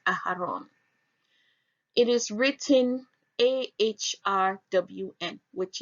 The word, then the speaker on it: Aaron: Aaron is found in Strong's H175, and it is pronounced Aharon.